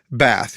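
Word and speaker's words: בת: it's H1 323 and the translation is Bath bath we pronounce it bath that's the word and it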